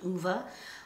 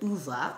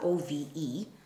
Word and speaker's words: Ove: It follows the life of a man called Uwe, O-V-E. Uwe or Uwe. I don't know how you say it, but it's definitely not Ove or O-V.